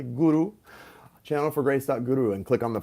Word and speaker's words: guru: Channelforgrace.guru, or guru, if you pronounce it properly, guru.